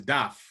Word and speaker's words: Daf: We're of Haitian descent, so I will say it properly. His name is Daf. Okay, so in Creole is Daf.